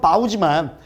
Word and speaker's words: bow: 물론 발음은 바우지만 활처럼 구부리는 거야, 몸을.